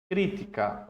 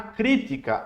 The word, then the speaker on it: crítica: É diferente de a crítica. Olha a diferença. A crítica, a sílaba forte é o ti.